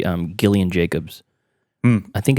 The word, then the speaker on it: Gillian Jacobs: I think Jacobs Gillian her name is Gillian are you sure it's not Gillian yeah it is it's Gillian okay I mean it's very strange but it's true I mean she she's yeah it's pronounced Gillian Gillian Jacobs I I'm not saying